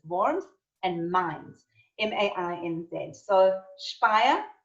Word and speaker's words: Worms: and then borns so it's spelt like worms w-o-r-n-s but it's worms and mines m-a-i-n-dead so